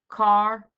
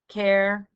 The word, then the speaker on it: char: have any fractional portion car care char different people pronounce this differently this is used for